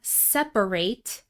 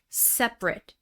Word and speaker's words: separate: So, we have separate, the verb, versus separate, the adjective.